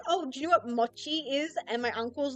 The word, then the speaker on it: mochi: I was like, "Oh, do you know what mochi is?" And my uncle's like, "What's mocky?" And I'm like, I literally just pronounced it correctly.